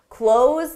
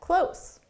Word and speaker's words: close: Close the door so we can get close. The pronunciation difference, again, is a longer sound for the verb, close the door, and then a shorter sound for the adjective.